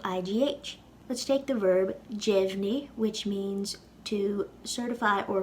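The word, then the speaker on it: deimhin: Before we lenite this, notice how we pronounce the D in jevni. It sounds like a J. It sounds like a J because E follows the D.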